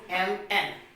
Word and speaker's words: column: So it we will pronounce autumn. Now the next example we have is what? column.